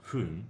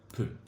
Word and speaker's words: 分: Because we got a stop sign, so it's not hun, but rather pun.